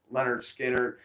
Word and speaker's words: Lynyrd Skynyrd: record came out which was named produ or pronounced Leonard Skinner came out in 1973 and I'm sure some